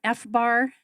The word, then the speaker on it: FBAR: my fees right right wow uh is it fbar is that how I pronounce it F Bar yes that's an acronym